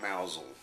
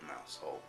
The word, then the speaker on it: Mousehole: I think they pronounce it Mousel there, but it looks like it's spelt Mousehole.